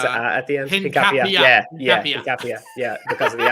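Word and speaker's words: Hincapié: It's Hincapie. I think the accent on the end. Someone corrected me because I was calling it Hincapie or Hincapie, but someone's.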